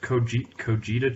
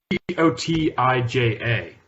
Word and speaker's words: Cotija: It's this Mexican cheese, Cojita cheese. Cojita cheese. Have you heard of Did that? you pronounce that right? Cojita cheese. Cottage cheese? Not cottage cheese. Cotija.